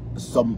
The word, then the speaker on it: Som: Juliet hom Som il faut que je prononce bien son nom son nom c'est S O M som.